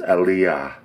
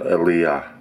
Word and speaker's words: Aliya: um correction on my pron iation this dish pronounced properly is alah I goodness knows what I said earlier but it wasn't aah that's what it's called all right I'll let